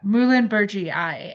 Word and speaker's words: Muhlenbergii: Yeah, Muhlenbergii is how you say it.